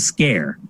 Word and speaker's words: Sker: of this game um it's called made of scare although if you read it you probably think